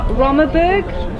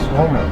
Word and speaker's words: Rommen: Rommenburg? Rommenburg? How do you say it? Hier is het Rommen. Het is niet Rommenburg. Rommen. Hier Rommen.